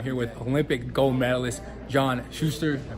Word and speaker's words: John Shuster: I'm here with Olympic gold medalist John Shuster. Did I pronounce that right?